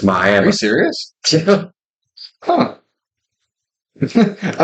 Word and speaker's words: Miami: youah Miami yeah yeah people get pissed off if called Miami if you call Miami Oklahoma people over there they get pissed off about that no it's Miami are you serious huh